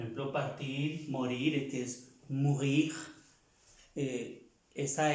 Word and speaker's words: mourir: Todos los verbos que terminan en IR se pronuncia la R.